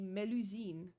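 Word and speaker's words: Mélusine: know how they pronounce meloine the the actual way to pronounce it in French would be melusine melusine but they don't like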